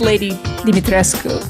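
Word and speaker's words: Lady Dimitrescu: the way real quick it is pronounced lady dimitresco I did cite that my mom is Romanian and if you have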